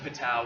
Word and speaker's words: Patau: 13 is Patau, which is pronounced Patau.